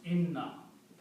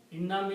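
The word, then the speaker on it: إنّا: So when you combine these two together in na one noun is not pronounced. So the combination of these becomes ina. Inam is surely we ina that's the word in the Quran.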